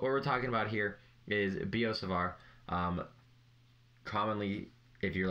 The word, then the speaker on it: Biot-Savart: talking about here is b.o savart um commonly if you're like can't do this french name in your head of b.o savar if you keep pronouncing it savart it's savar think of it as